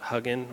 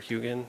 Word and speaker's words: Hugin: for a talk about Hugin or Hugin, depending on how you want to pronounce it, and then another Krita talk at 2.